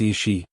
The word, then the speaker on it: Aos Sí: They were called the sea, pronounced Ishi, meaning people of the mounds.